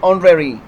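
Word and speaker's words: honorary: جب H silent ہوتا ہے جیسے کہ آنری، آنری، ٹھیک ہے نا، سوری آنریری، آنریری، تو اس میں یہ جو ایچ ہے یہ تلفظ نہیں ہو رہا اور آگے سے آواز جو ہے وہ او سے تلفظ ہو رہا ہے جیسے کہ آنرری، آنرری، ٹھیک ہے نا.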